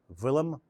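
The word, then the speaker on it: Willem: And here we have a painting by France Hals, Villim Kymans. The way you pronounce a W in Dutch is it's like there's a V in front of the W. V. So that's villim.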